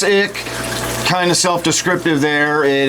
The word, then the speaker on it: Ich: Ichthyophthirius for short, but most people just say ick. It is typically spelled ICH, or sometimes it is spelled ICK.